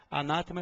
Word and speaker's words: anátema: significa maldição é anátema anátema é proparoxítona e como too proparoxítona tem que ser acentuada eu vou destacar aqui